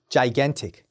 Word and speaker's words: gigantic: 기간틱이 아니라 gigantic, gigantic이라고 읽어주시면 됩니다. gigantic.